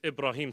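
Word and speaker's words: Ibrahim: change who I was they wanted me to pronounce it differently no it's ibraim Samra I just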